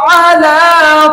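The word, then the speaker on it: على: আ লা, আ লা, আ লা। এভাবে করে আপনি 10 বার বলুন। এই শব্দের উচ্চারণ হচ্ছে আলা আলা আলা আলা শব্দের অর্থ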